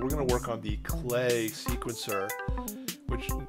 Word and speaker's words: Klee: gonna work on the clay sequencer which it's spelled cleave but it's pronounced clay which makes really bizarre